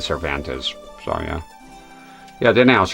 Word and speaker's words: Cervantes: I've been saying cervantes. Yeah. I said cervante for a while cuz I thought I was being a dumbass but then I was watching Maximleian dude uh doing the uh rate the fatals or whatever it is but and he said cervantes.